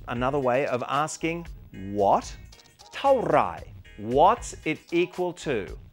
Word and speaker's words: เท่าไหร่: เท่าไหร่ is the way to ask how much in Thai. Let's slow it down so we can really understand the right way to say it. เท่า is a short word that falls as you say it.